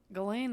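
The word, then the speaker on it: Ghislaine: also news about galen that doesn't sound right galen that's how they say it okay whatever epstein's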